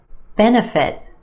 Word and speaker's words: benefit: Benefit, benefit. 3 syllables here. Our emphasis on the first syllable, the sound, benefit, benefit. That second syllable, that's where you'll find your schwa, na, na. Bena, bena, benefit.